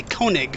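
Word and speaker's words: König: Kunak or tone well I will say Koenig for the rest of the battle because I don't speak German so my pronunciation is probably off the mark anyway so I will just stick with an anglicized version of the word and we'll get started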